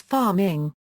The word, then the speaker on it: pharming: See also DNS cache poisoning IT risk Mutual authentication Page hijacking References [p] - ^The word "pharming" is pronounced as "farm-ing".